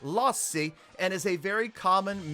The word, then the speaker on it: Lassi: and 70s but in finland this is actually pronounced lost c and is a very common male name so the lossy or lassie whatever you want to call it